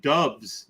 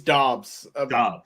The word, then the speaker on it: Dobbs: is willing to give dubs did i pronounce that right is it dubs i think it's dobbs yeah all right if